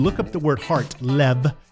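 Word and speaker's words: לב: 9 if you look up the word heart Lev it's pronounced Leb you'll see that's Hebrew all the times it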